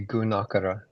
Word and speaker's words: Gunakara: Yeah, probably Gunakara. Gunakara, cuz there's a long A there you put the emphasis on.